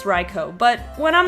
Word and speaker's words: Raikou: saw raikos name I tended to say raikou like haiku well I guess that's not an o you but I was thinking also like Raichu even though I guess in retrospect would be silly for them to make a name like a rhyming name like that like for that reason so raikou okay I get it it's raikou but when I'm not